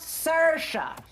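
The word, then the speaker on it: Saoirse: hello I am sorry hello I am Sasha s-a-o-i-r-s-e it's pronounced Sasha and I do not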